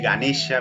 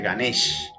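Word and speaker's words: गणेश: cortas y vocales largas la corta final de las palabras generalmente se elimina por eso en vez de ganesha vamos a escuchar ghanés en vez de quintana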